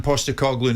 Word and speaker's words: Postecoglou: Are you comfortable with Celtic and this man Postecoglou now in charge? Angie, how do you pronounce it?